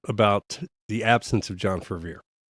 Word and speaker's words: Fervier: have to see John Fervier. By the way, why why why do people have a hard time pronouncing his name? It's pronounced how it's spelled. It's very simple.